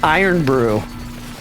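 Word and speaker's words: Irn-Bru: a metallic flavor right IR Brew pronounced iron Brew you know my ex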